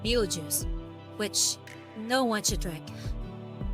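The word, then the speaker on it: Betelgeuse: pretty sure the pr the star uh is pronounced like be juice which no one should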